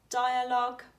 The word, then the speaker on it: dialogue: Dialogue, we don't pronounce the U sound in that again.